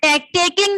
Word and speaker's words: talking: वही मैं आपको बता रही हूँ माइक ऑफ मत करना ध्यान से सुनो ये टॉकिंग लिखा है टेकिंग नहीं है टॉकिंग है एल साइलेंट है टॉकिंग मीन्स बात करना Talking to this father, Totaram did not like the look of him.